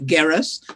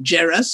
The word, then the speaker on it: Geras: And I'd have to explain to them all about Geras and that it's not Geras or Gerard or anything else.